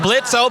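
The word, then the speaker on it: Blitzø: Katie K blit Blitz Blitz o bucko but the oh is silent uh and I I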